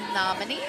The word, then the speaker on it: Namini: figured out quite yet it's pronounced nominee nominee thank you N is a member